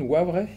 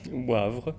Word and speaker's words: Wavre: des grands philosophes là je vais essayer de prononcer à la wallon Wavre Wavre Wavre Mols Mols maison d'édition